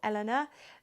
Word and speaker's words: LNA: this is it's an LNA or Elena as some French or French speaking people would pronounce it and if you want